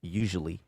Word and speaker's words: usually: Usually. I usually play the saxophone. Vous voyez, usually. Ici, la prononciation, écoutez bien, usually. Parfois, on entend usually. Donc, deuxième syllabe, au fond, c'est passé sous lui.